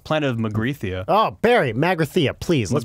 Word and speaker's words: Magrathea: Oh, Barry, Magrathea, please. Let's pronounce things correctly.